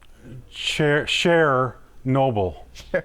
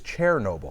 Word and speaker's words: Chernobyl: Cher Noble. So close again. It's actually, most people say what? I've always said Chernobyl. Chernobyl, but actually it's Chernobyl. Yeah, I mean, Apparently. really. That's how you really pronounce HBO got the entire documentary wrong.